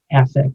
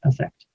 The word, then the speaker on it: affect: have a flat affect all right it's usually pronounced affect and not affect but the word with an e which is